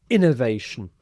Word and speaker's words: innovation: Innovation. So we stress the first syllable here.